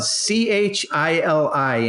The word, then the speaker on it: Chili: near where Kyle is from and it's actually it's spelled ch ili and of course Paul a being that you're